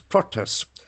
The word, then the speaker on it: protest: We can see that as a noun, the accent falls on the first syllable. Protest. Protest. As a word, we can see the axis shift on the second syllable.